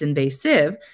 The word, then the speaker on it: invasive: The second syllable is an open syllable, and as expected, it makes a long A sound, ve. But the third syllable, although it appears to be a vowel consonant E syllable or a silent E syllable, it's actually not following the rule we'd expect for a silent E syllable. It's not saying a long I sound. It's not invasive.